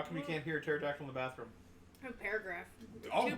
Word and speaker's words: pterodactyl: you can't hear dennis how come he can't hear a pterodactyl in the bathroom why because the p is silent how come you can't